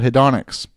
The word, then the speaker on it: hedonics: The final and the most outrageous adjustment is something called hedonics. Hedonics sounds like the word hedonism, and it has the